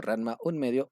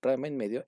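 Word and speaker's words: Ranma ½: de Rma y medio, pronunciado en español como Ranma un medio. o popularmente llamado Ram medio en Hispanoamericana.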